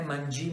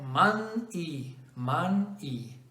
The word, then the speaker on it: Manyi: Ho dovuto farmi mandare la registrazione della pronuncia, perché non è Mangi, Magné, Magné, ma è Man-I, ok?